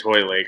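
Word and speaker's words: Hoylake: Yeah, I think it's Holy Lake. I don't think it's Holy, but whatever. They should learn how to pronounce things in Britain. I believe like there's no L prior to the Y.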